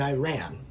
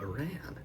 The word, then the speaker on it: Iran: I did learn the proper pronunciation is Iran and not Iran. The Iran pronunciation is largely what's referred to as a Bushism, so a George W.